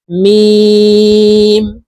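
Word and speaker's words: ميم: calf calf লাম লাম মিম নাকের বাঁশি থেকে মিম হরুফের উচ্চারণ করব মিম নুন নুন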